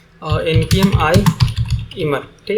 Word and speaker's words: Immer: तो इसके लिए एक सॉल्यूशन है कि एक लाइब्रेरी है इमर करके, ठीक है, इमर आइमर या जो भी बोलो, इमर ही हम उसको प्रोनाउंस करेंगे, IMMER है उसका, ठीक है।